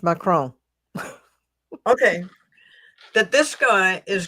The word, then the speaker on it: Macron: his name was again mcon macron mcon yeah it's French macron okay that this guy